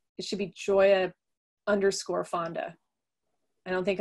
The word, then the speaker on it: Gioia: catalog is wrong it's like it should be joya underscore fonda i don't think i and i think in the catalog it just says joyafondo all blurred together but i don't think there's a lot of other joyas or joyofonda so i think you can figure